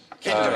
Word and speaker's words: Kinder: extra point for that it is actually rhymes with tinder egg kinder egg kindred the egg